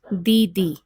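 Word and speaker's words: दीदी: word in Hindi is didi. Didi. The D sound here is a dental sound. So the tip of the tongue is right behind the teeth while pronouncing this particular letter.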